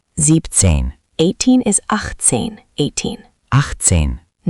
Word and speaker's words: siebzehn: Same idea. Sieben shortens to sieb. Siebzehn.